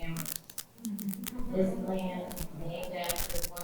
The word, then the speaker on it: Amherst: Learn to pronounce names correctly, like we correct those who pronounce the H in Amherst.